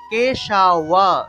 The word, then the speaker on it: কেশব: তাহলে সবাই বলবেন আমার সাথে সাথে, অজ্ঞান তিমিরান্ধস্য, সবাই বলুন, অজ্ঞান তিমিরান্ধস্য ব্রতেনানেন কেশব, ব্রতেনানেন কেশব, কেশাওয়া কেশাওয়া, ওয়া উচ্চারণ হবে, ব্রতেনানেন কেশব প্রসিদ সুমুখ নাথ, প্রসিদ সুমুখ নাথ জ্ঞান দৃষ্টি প্রদুভব, জ্ঞান দৃষ্টি প্রদুভব।